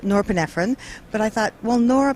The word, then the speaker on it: norepinephrine: us to pay attention so it actually is pronounced norepinephrine but I thought well Nora pfron will allow